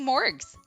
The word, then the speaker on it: Morgs: going to call you morgs m o r GS and with a hard G not a soft one just so there's no